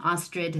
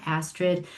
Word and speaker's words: Astrid: For those of you who are new, I pronounce my name Ostrid, not Astrid.